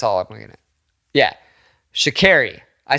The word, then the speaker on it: Sha'Carri: Yeah, Sha'Carri. I said Sha'Harris. I think I said Sha'Harris. Yeah. Sha'Carri. I think that's how you say it, right?